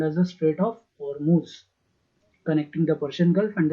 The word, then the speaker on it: Hormuz: Pronounced as Hormuz.